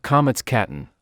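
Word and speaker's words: קמץ קטן: matter of exception ions this specific comets is called comets Katen literally the small comets unlike the regular comets which is pronounced ah the comet's Katen is pronounced o I see but how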